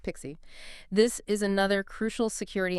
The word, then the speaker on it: PKCE: Right, PKCE, pronounced Pixie.